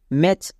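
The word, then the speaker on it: match: আছে তাই টি silent next ম্যাচ এখানেও টি সি এইচ থাকার জন্য ম্যাচ এম এ ম্যা টি সি এইচ মানে চো ম্যাচ এখানেও টি সাইলেন্ট কারণ সি এইচ এর আগে আছে তাহলে আমরা প্রথম রুলে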